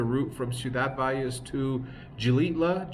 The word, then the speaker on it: Xilitla: Today is just the route from Ciudad Valles to Gilitla. Gilitla is spelled with an X.